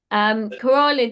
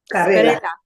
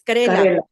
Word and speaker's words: karela: I'm pronouncing it wrong. Others might have a better pronunciation. It's Okay. Karela. And Shobna, you know how to pronounce it. Karela. It's Karela.